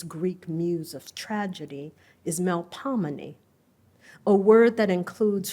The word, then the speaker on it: Melpomene: Melpomene, New Orleanians pronounce it with a long O sound as in old.